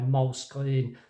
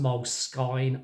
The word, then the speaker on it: Moleskine: I still really like a notepad, so that's my moleskin. Moleskin, is it moleskin? It's not moleskin as in the skin of a mole. Let's be clear on that. I think it's pronounced moleskine, I think.